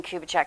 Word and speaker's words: Kubicek: There's an S in there. I've been dealing with him for years, so I know it's Dean Kubicek, because if I want something from the marina, I better say it right.